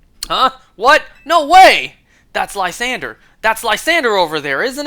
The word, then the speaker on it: Lysandre: Lysander! I can't stand it when people online mispronounce his name like Lysandre. That is so far from how it's pronounced.